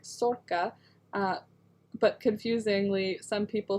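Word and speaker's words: Sorcha: it uh they are both irish names but pronounced a little differently mine is more like sorca but confusingly some people spell their name like mine and pronounce it sorsha sercia well cool welcome are you in ireland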